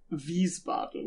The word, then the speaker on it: Wiesbaden: Wiesbaden. Oh yeah, because W's are pronounced like V's.